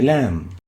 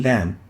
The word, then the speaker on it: lam: lingual tip litter and it's named lamb as in lamb named lamb pronounced lamb lamb the next letter is